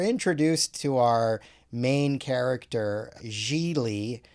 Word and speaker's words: Gigli: to our main character jeely sounds like really is what he says when he's telling people how to pronounce his name played by ben affleck